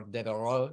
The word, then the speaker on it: Devereux: And in Ireland, where there's actually a castle, Devereux, or Devereux, if you want to say it in the French way, then that's when we got the Irish pronunciation to some of our names.